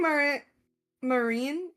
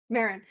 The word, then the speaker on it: Marin: I think Marine. Marin. Marin. Marin. How do you phonetically spell this? Like mar like the like a like a horse. Mare but with an N.